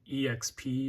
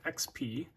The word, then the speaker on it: EXP: Today I'm going to be talking about this thing, the Evercade EXP or XP, however you'd like to pronounce it. I personally say XP because I'm a normal human being.